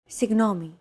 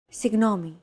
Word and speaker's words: Συγγνώμη: Συγγνώμη. This word is often romanized like this. Συγγνώμη. This character isn't pronounced using an English G sound at all.